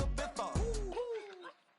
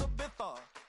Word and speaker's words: Ibiza: I just went to Spain, that's Ibiza. Ibiza. Yeah, it's pronounced Ibiza, actually.